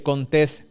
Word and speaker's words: Contés: Mi nombre es Contés, con acento en la E, y este es el podcast que nutre tu mente con ideas innovadoras.